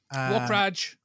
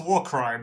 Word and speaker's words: Warcry: Warcraj. No, it's. I'm pretty sure it's Warcry. It's definitely Warcry. It's pronounced Warcry, but yes, we all know how it's spelled.